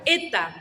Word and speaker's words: eta: La eta es una E larga. ¿Qué significa esto? Que literalmente se pronuncia E.